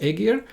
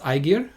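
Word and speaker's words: Ægir: I think in Norway it's pronounced Aegir, and in Iceland it's pronounced Aegir. But either way, that's a Jötun from the Norse mythology representing the sea.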